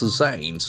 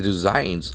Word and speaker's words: resign: does he do he resigns R SN so that's a very important verb in English language resign resign act and falls in second syllable resign when you resign